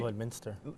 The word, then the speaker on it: Lloydminster: Lloydminster. Lloydminster? Minster. Oh, it's Minster. Yeah. That's because that's how it's spelt, right?